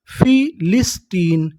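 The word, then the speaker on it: philistine: मैं आपको बता दूं कि अगर आपको इंग्लिश की किसी भी मीनिंग के आखिरी में ई लिखा मिले तो हम लोग ई का उच्चारण नहीं करते, ई से पहले तक का उच्चारण करते हैं।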